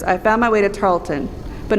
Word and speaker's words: Tarleton: It's pronounced Tarleton, not Tarleton or Tarlington, but Tarleton.